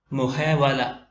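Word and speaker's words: محاولة: അടുത്ത ഉദാഹരണം മുഹേവലത്തുൻ മുഹേവല മുഹേവല അവസാനത്തെ തായിനെ ഉച്ചാരണത്തിൽ വരുത്താറില്ല, എഴുത്തിൽ മാത്രമാണ് വരിക.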